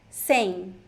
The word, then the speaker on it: sem: So it is written just S-E-M, but the pronunciation sounds a little bit like em, sem, sem.